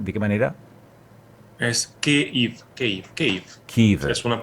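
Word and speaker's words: Kyiv: Es Kiev. Kiev. Es una pronunciación.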